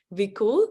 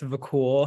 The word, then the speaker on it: Vakul: Next, I have Vikul. Is that right? Am I saying it right? Yes, you are. It's Vakul. Hi, everyone.